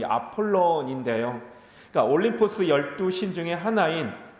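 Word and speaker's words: Apollon: 자, 아볼로라는 이름의 원래 발음은 이 아폴론인데요.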